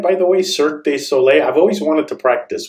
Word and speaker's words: Cirque du Soleil: So before we get into, did I say that right, by the way, Cirque du Soleil? I've always wanted to practice with someone who knows how to say it. Cirque du Soleil.